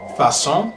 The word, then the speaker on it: façon: The cedilla appears under the letter C and changes the pronunciation from a hard K sound to a soft S sound. So we'd say façon, way, garçon for boy, leçon for lesson.